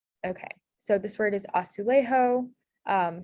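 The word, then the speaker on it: azulejo: so this word is asulejo um some hints are that the um a sound so asu lay is usually spelled with an e and then the ha sound is spelled with a j so this spelling is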